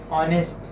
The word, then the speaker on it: honest: one or two words which are silent existence honest honest example now here it is silent and one or two words walk okay